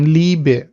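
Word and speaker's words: Liebe: আর ই এ এটার sound লাইক double ইর মতো, যেমন ই লাইক ইলিশ, অথবা ইয়ে অনেক ক্ষেত্রে আবার এটা ইয়ে উচ্চারণ হয়ে যায়, যেমন লিবে, লিবে, লিবে ভাপিয়ার, এখানে কিন্তু ইটা চলে আসতেছে, লিবে, লিবে।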